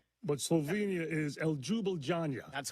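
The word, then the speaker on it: Ljubljana: I don't know how to pronounce these. Okay. But Slovenia is El Jubila.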